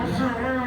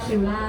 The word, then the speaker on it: QRRA: รช อีก ที นึง ค R อ่าน ว่า คาร่า เ ดี ใจ อ่ะ ดี ใจ อ่าน ว่า คาร่า นะ คะ เออ เ่า คิวล่า ไม่ มี นะ เออ ค่ะ ใาย ไง